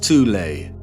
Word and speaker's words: Thule: secret society within germany called the thol society sometimes alternatively pronounced tulay that had sub-factions within